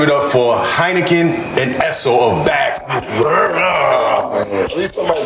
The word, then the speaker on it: Esso: Cuz they always be like Esco that Why they do that? Because of N or dyslexia. Everybody says spelled E S S O dollar sign.